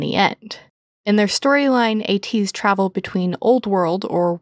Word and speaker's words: ATEEZ: In the lyrics of Say My Name, they say that their name is A to the Z, which is quite fun